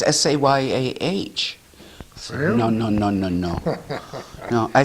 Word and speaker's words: Seguin: I said, "Oh, yes, Eustace, who was from Cooperville in the 1800s, everybody says Sayah. Sayah. Sayah. See? And in Vermont, it's Sayer. Sayer.